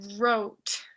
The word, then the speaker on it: wrote: Write significa escribir y para conjugarlo al pasado es wrote. Wrote. Otra vez, esta WR más o menos se pronuncia como R nomás. Ignoren la W.